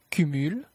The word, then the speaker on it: cumul: Cependant, la consonne finale est quelquefois prononcée. Déficit, déficit, cumul, cumul, sac, sac, donc, donc, amer, amer.